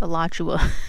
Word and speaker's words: Alachua: Alright, so it's pronounced Alachua because we dumb.